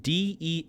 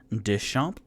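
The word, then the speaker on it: Deschamps: for interior illustrators eric this is a french last name so my apologies deschamp it's spelled d-e-s-c-h-a-m-p-s so deschamp or eric des champs uh liked two of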